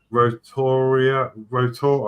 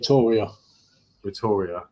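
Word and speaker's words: Rotorua: god parents live in New Zealand near oh rotor rotor I can't pronounce that sorry roor rotor is that right silent you uh Peter says forgive my spelling no forgive my pronunciation yeah it's roria roria okay yeah a says okay who tuned in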